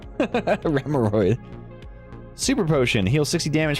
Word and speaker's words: Remoraid: Remoraid. Or Remoraid. Sorry, I always pronounce it wrong. Because I want to say it's like a hemorrhoid. Remoraid.